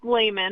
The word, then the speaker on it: Lehman: It's pronounced It's pronounced layman, but it works.